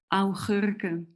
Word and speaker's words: augurken: And also gherkins are kind of augurken.